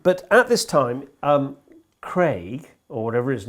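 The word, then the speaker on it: Creagh: It's Michael Omore Craig. Craig. That's right. It's a funny spelling. Why why I sort of hesitated went there is his name is spelled C R E A G H.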